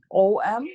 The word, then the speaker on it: Om: Om is usually spelled O-M, but it's pronounced A-U-M.